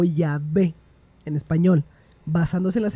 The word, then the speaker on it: Yahvé: probable es Yahweé o Yahvé en español basándose en las evidencias lingüísticas. Formas de abreviaturas como el ya que aparece en el aleluya, que significa alabada ya, sugieren que la primera sílaba es ya.